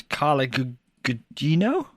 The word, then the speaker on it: Carla Gugino: So it's Carla Gugino, Well pronounced.